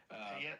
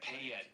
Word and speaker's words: Payette: Payette, Payette, So that's where you got a cabin?